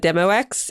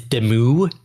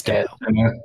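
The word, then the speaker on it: Demoux: I used to say it Demo X, if that makes you feel better, and now everyone's okay to laugh at me. I think technically the French pronunciation is Demu. Yeah. But it's Demo. I say Demo. I'm using the graphic audio pronunciation.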